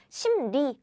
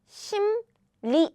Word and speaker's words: 심리: Again, 심, you already closed your mouth. So when you pronounce the following sound very quickly, rolling your tongue requires a lot of work. So instead of rolling, you just quickly pronounce without rolling, like 심리, not 심리, 심리.